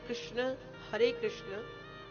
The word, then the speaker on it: कृष्ण: प्रायः हम सभी इस मंत्र का गलत उच्चारण करते हैं। हम उच्चारण करते हैं हरे कृष्णा कृष्णा कृष्णा हरे हरे, हरे रामा रामा रामा हरे हरे। किंतु मंत्र को क्यों बिगाड़ रहे हैं? एक आका डंडा लगाने से तात्पर्य बदल जाता है।